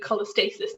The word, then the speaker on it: cholestasis: say how you think it's said so intraheptic cholesthesis of pregnancy i would definitely go for intraheptic cholestasis the pregnancy there you get that that's exactly